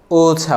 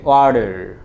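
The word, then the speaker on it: water: ধরো, ব্রিটিশরা যেটাকে ওছা বলে, ওছা, আমেরিকানরা সেটাকে ওয়ার্ডার, ওয়ার্ডার। কারণ আমেরিকানরা মাঝখানের ঠিটাকে সাধারণত ডি বলে উচ্চারণ করে, আর ব্রিটিশরা দেখে যে শব্দের শেষের আরটা উচ্চারণ করে না।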